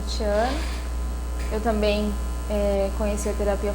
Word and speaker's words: Tatiane: Meu nome é Tatiana.